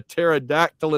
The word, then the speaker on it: pterodactyl: John New York Tiger knows Van's favorite is you can't hear a pterodactyl in the bathroom because the P is silent.